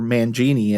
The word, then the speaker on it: Mangini: No, Mike Mangini or Mangini as it's pronounced is out of Dream Theater.